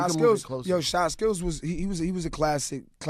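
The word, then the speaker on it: Chyskillz: Shy skills. Because I've only ever read it, and I'm like, I'm saying this wrong. how do you spell it? CHY Skills. SKILLZ. Shy skills. Kai skills.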